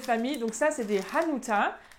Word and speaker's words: Hanuta: Donc ça, c'est des Hanuta, avec bien le H qu'on prononce, Hanuta et pas Hanuta, d'accord?